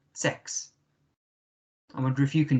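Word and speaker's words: sechs: Das ist Nummer 6. Okay. Das ist Nummer 6. Remember the S, meaning the Z sound at the beginning. Z, E, K, S. Okay. The C and the H makes a K sound.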